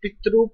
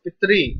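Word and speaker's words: पितृ: Years by years, country by country, people can't pronounce this Pitru properly, so they pronounce as Pitri, Pitri, Pitri, Pitri, Krishna, Rishi, right?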